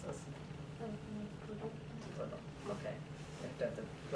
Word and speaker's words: Proudhon: In his work, there's a person named Proudhon. I'm probably pronouncing his name wrong. Proudhon. Proudhon. How would you pronounce this? Proudhon.